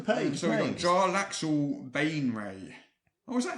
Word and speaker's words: Baenre: So we've got Jarlaxle Bainray. Oh, is that how you pronounce it?